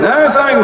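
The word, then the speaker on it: السلام عليكم: আমরা সালামের উচ্চারণও জানি না সালাম কিভাবে দেয় আসসালামু আলাইকুম কি দেয় আসসালামু আলাইকুম দিতেছে সালাম রাজনৈতিক সালাম এগুলা বুঝছেন السلام علیکم السلام علیکم السلام علیکم السلام علیکم السلام علیکم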